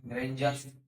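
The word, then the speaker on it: grandeur: rule उच्चारण का नियम इसी वर्ण में डी का उच्चारण या ड होता है ठीक है जब किसी वर्ड में डी के पहले एक से अधिक लेटर्स हो और डी के बाद य आर आई आर य ए और य आर की हो तो डी का उच्चारण ज होता है डी का उच्चारण ज होता है जैसे जी आर ए एन डी य आर ग्रेंजर जी आर ए डी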